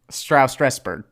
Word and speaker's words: Strasberg: Stress is on the Strauss. Oh, okay. Strasberg.